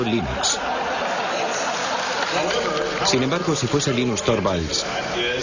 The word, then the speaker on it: Linux: eso se pronuncia Linux bueno y Linux lo pronuncio Linux sin embargo si FES Lin no hayuda de